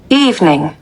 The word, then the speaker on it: evening: দুইটা কিন্তু same pronunciation. তো আমরা একটু সাউন্ডটা শুনবো। Evening.